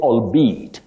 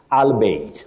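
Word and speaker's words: albeit: very tricky Bethel MAA you say albeat albeat many people end up saying albate or albate no you say allbe then at fly 863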